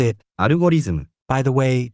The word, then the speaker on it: アルゴリズム: We pronounce it アルゴリズム。 By the way, Japanese doesn't distinguish between L and R. They both become R.